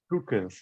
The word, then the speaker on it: crooked: The following ed words used as adjectives are pronounced with id. Aged, oh no, aged, blessed, crooked, naked, wicked, wretched. Excellent.